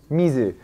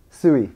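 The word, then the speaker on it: 水: Mizu. And so over here you'll see two variations. And do you know the other pronunciation for this? Sui, yeah.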